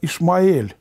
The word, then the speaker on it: Измаил: И ангел Господень сказал снова: «Вот, ты беременна и родишь сына, и наречешь ему имя Исмаил». «Ибо Господь услышал ваше горе». «В буквальном смысле это имя произносится как Измаил, и оно означает: « Бог услышит».